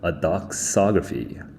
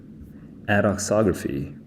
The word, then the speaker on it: adoxography: Fine writing in praise of trivial or base adoxography. Adoxography. Adoxography. Yeah, that's the correct pronunciation.